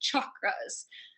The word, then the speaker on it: chakras: energy centers what I'm referring to are the chakras sometimes pronounced chakras the word chakra is a Sanskrit word meaning